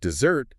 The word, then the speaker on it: dessert: So, desert, first syllable stressed, that's the dry, sandy place. Yeah. But dessert, second syllable stressed, that's the sweet treat.